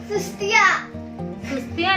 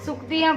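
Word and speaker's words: सूक्तियाँ: हाँ ये एक और सुस्तियाँ नहीं, सुक्तियाँ को सुस्तियाँ।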